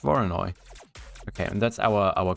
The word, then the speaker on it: Voronoi: create a foreign first oh no wait it's pronounced varanoi well apparently it's pronounced voronoi okay and that's our our cracks right so